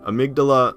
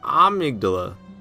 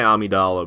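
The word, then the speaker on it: Amygdala: you say it a amigdala I don't know I like to say Amidala but that's way wrong so now I say amigdala but I feel like that's also wrong they got mikolash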